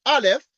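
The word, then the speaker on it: א: like this is a is a Hebrew letter pronounced Alf and the canity of R we denote by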